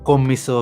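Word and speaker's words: Commisso: looks like you know komiso or kommisso have been told is the proper way to say the calabrian the calabrian way of thing he's uh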